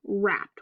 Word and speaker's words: wrapped: Okay, and then we have our WR spelling, which means that the W is silent, so this word is wrapped.